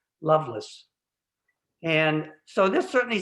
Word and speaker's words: Lovelace: libertine whose name is lovelace l-o-v-e-l-a-c-e which in the time would have been pronounced loveless and so this certainly